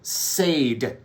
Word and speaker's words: Sade: uh smooth operator right that is how it is spelled shade Sade so everyone kept adding an H right here